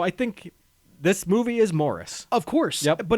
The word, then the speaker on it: Maurice: and I know that in the UK they say Morris. Yeah. And in the film they say Morris. So I think this movie is Morris of course, but it's just been really like it's been difficult.